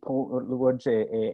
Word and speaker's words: Łódź: Was born in Łódź, Poland. Łódź, an important industrial center.